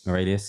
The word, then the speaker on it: Aurelius: So it's literally as it's spelled. Aurelius, she's got it on Instagram as well.